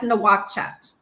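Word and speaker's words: Nouakchott: Moritania is a country and uh how do you pronounce the the capital city? Um that's nohat.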